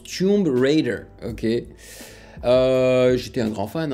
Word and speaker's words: Tomb Raider: à la française, comme je l'ai prononcé lorsque je connaissais pas encore très bien l'anglais. Tomb Raider.